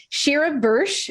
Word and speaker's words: Sheera Bursch: alright hey everybody crystal stokes here with shira bursh am i saying it right yes ah thank